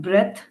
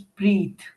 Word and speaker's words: breathe: Someone said breath. So it is not breath, it is breathe.